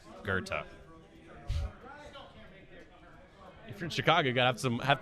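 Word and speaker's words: Goethe: Poe DuSable Electro drive if you are in Chicago and you want to sound like a local there's a street that's spelled g-o-e-t-h-e and it's pronounced Gerta from Chicago got some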